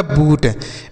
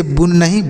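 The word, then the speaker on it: boon: ये हो गया बूट बी डबल ओ ए तो बी से लिखेंगे ब और न से न से लिखेंगे नौ डबल ओ से बड़ा ओ की मात्रा लिखा गया बून इसे बु नहीं बून पढ़ेंगे अब देखिए यहां पर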